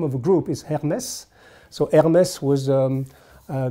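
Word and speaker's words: Hermès: it's now the name of the group is hermes so hermes was um uh the greek king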